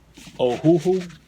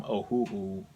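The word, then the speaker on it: Ohuhu: Ohhoohoo. Ohhoohoo. I guess that's how you pronounce it. O H U H U.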